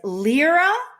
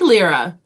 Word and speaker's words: Lyra: and her name is lira l-y-r-a antarctica seabourn sheeran now seabourn is his wife's last name sierra antarctica again with that middle name right and fans speculate that lira or lyra i assume it's lira is the name